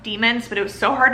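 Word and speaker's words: daimon: literally read it as damon the whole time there's a pronunciation guide in the beginning and it's pronounced demons but it was so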